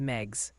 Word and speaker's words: Meigs: Meigs County, Tennessee is Meigs.